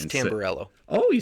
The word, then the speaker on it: Tamburello: It's and Tamburello.